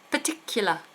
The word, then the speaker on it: particular: Particular. Schwa ending.